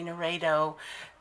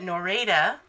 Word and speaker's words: Noreda: I keep wanting to say Noredo because your last name has an O in it, and it just confuses me. But Noreda has ordered this time